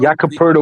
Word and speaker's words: Poeltl: one of the first people I've ever heard pronounce Jakob Poeltl. Jakob, who is that? Jakob Poeltl. Jakob Poeltl was the center for the Toronto Raptors.